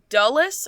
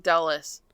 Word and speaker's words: Dulles: it may be Dallas I think it's du's airport I think they kept saying dullas oh anyway anyway if